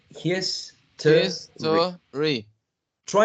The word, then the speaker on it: history: the next one history if you say history you're saying three syllables his try with two syllables history history exactly some speakers say history what about the next